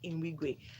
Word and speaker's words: Nwigwe: No, Nwigwe. not Nwigwe. There's no N in the middle.